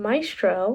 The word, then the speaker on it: Maestro: So first things first, I realized that I've been calling this movie wrong, so I just watched Maestro.